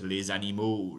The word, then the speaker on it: les animaux: So there's les animaux, les animaux, les animaux. I'm doing liaison right there, les animaux.